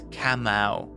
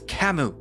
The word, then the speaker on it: Kamau: no camo he's right he'd be saying it wrong Ishmael obviously it's kamau it's kamu why does no one